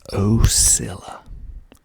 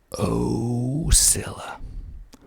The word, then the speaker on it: Ocilla: each of them okay the first one is ocilla oh silla ocilla georgia that's how you pronounce it a dale hey dale there's a